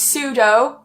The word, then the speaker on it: pseudo: Something to also mention is that pseudo is a prefix, so any word that starts with this pseudo will always be pronounced pseudo.